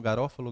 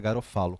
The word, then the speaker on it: Garofalo: Na verdade, se você for usar a pronúncia, é Garofalo, né? A obra de Garofalo, que alguns falam Garófalo, Garofalo, mas acho que quando você fala em italiano, porque ele é um italiano, o correto é Garofalo.